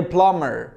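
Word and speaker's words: plumber: ك اللي هو مشط او يسرح ك زي بلامر بلامر بمر بلامر يعني ايه السباك بين السباكه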